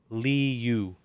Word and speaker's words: Liu: s-i-m-u simu and then his last name is pronounced liu li-yu l-i-u um and so and